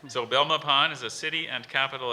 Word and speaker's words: Belmopan: dictionary that we use Belmopan Belmopan hmm alternate pronunciation no just the one are you sure because it's not down my pen I'm sure people pronounce